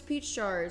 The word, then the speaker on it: PeachJars: down I'm ready good morning my name is pach chars that is spelled p e a c h j a